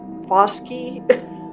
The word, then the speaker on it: Bosque: Army, the Navajo were expelled from their land and forced to march, I always mess up this word, Bosque, I think is how it's said.